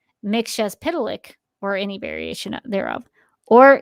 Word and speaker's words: Mxyzptlk: Mxyzptlk is the official pronunciation within the encyclopedia. So I mean, yes, not yes, Mxyz. Mxyz. Mxyzptlk.